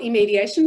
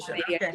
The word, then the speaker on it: iMediation: We call it iMediation, but a lot of people call it iMediation.